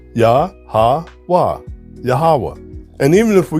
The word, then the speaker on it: YaHaWah: So if we reconstruct this pronunciation, it's YaHaWah, YaHaWah. We replace the E with an A, the O with an A, and the V with the W. YaHaWah, YaHaWah.